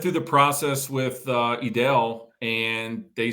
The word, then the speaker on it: Edel: of people ask us well how do you pronounce it is it Adele is it edel I've heard all sorts of pronunciations but um we always just say edel foreign when I introduce you no I mean